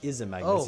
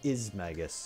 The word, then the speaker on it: Izmagnus: It's not Izmagnus, it's just Izmagus. I immediately thought Izanagi when I saw it, so that's why I went Izmagnus.